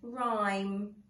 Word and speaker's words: rhyme: rhyme lots of poems rhyme rhyme rhyme rhyme okay our silent h is the second letter in that word so your task for